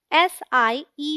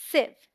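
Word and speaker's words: sieve: है आते की छलनी मोस्टली लोग इसे सी बोलते हैं जो की गलत प्रनंसीएशन है इसमें आई का जो साउंड है वो शॉर्ट है शॉर्ट मतलब जल्दी से बोलेंगे खींच के नहीं एस आई ए वी ए इस वन सिलेबस और साउंड लाइक सिर्फ एक इन लाइव सो D right pronunciation इस सेफ सेफ मैंने एक शब्द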